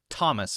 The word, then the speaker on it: Thomas: has voiced and unvoiced th has a special sound which is T like Thomas for example t h o m a s t th T Thomas but it has also